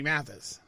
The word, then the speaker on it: Mathis: And before you know it, it's going to be Christmas, and I'm going to be singing with Johnny Mathis.